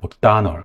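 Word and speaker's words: McDonald's: 그래서 맥도날드인데 발음 기호까지 신경 쓰기 귀찮으면은 그냥 이렇게 두 번째 음절만 강하게 발음하시고, 그러면은 나머지 앞에랑 뒤에는 자연스럽게 약하게 발음이 될 거잖아요. 그래서 맥도널드 이렇게 발음을 하시면은 이게 유럽이나 아시아의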